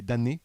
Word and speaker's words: Damnés: Les Damnés, tu le Oui. prononces sans le M, c'est encore mieux.